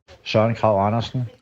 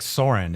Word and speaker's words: Søren Kragh Andersen: Søren Kragh Andersen. Oh, Søren Kragh. He just kind of rolls it out. It's not like Soren, it's Søren.